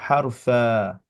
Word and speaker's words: حرفا: va être une fathatan, on va s'arrêter comme si on fait. En fait, on va prononcer deux temps. Harfa, comme ça. Ouais, wa ishrina harfa. حرف Voilà, comme si tu prononçais de deux temps. et on dit pas le N du coup.